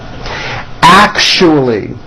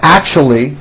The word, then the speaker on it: actually: Actually. It's not actually with a CH. It's actually with an SH sound.